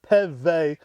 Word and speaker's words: Peve: I talked to his son, Tyne, and he pronounced it Peve.